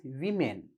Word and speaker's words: women: We pronounce it as not women. Correct one is women. Woman, women.